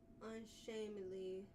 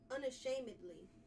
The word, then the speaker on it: unashamedly: The correct spelling unshamingly. Unshamingly correct version. Unashamed. Unashamedly. Unashamedly. That seemed even worse than what the hell I said. All they did was add an A. Unashamedly. Unashamedly. Unashamedly. Unashamedly is the correct way to say it.